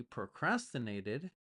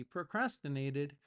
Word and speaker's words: procrastinate: word is procrastinate procrastinate it looks like Pro but if you say it fast the sound is actually PR that's how we speak fast in English procrastinate or procrastination now